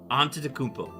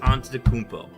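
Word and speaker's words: Antetokounmpo: spelling but antacmpo thank you thank you I'll pronounce it that Hello onto the kmpo. Thank you. Giannis onto the kmpo.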